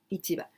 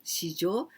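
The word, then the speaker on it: 市場: kind of food but when we say shijo the same kanji but when we pronounce shijo this is economy market this is the title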